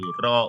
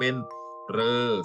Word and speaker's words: ฤ: ข้าง โต๊ะ แล้ว ว่า ตัว เรื่อง ออก เสียง ได้ จี แบบ นะ ลูก ถ้า ได้ 3 แบบ ก็ คือ ออก เสียง เป็น รึ แล้ว ก็ เอา เสียง เป็น ริ แล้ว ก็ ออก เสียง เป็น เลอ ค่ะ อีก สระ อิ และ